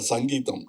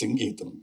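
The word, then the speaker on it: Singeetham: to get very upset because say Mr. Sanangeam no it is singam please but after 40 years you have cleared it now nobody can Mr.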